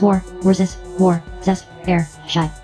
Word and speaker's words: Worcestershire: and she also knows how to pronounce war, air, shy. Worcestershire, that brown sauce from England.